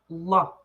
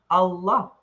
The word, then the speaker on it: Allah: Teach us and then So A L O. Uhhuh. O A L O A. So, and then say l a h. Allah. Allah. Allah. Yeah. Pronounce pronounce both L's.